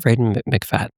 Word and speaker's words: Freida McFadden: Freida McFadden. Freida McFadden.